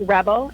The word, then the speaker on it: RBL: Yeah, so I run a company called Rebel. It's spelled RBL, but it stands for Relaxation-Based Lifestyle.